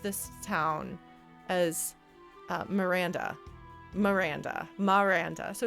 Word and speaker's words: Maranda: town as miranda miranda maranda so it's a slight pronunciation different from miranda which is the name so miranda miranda but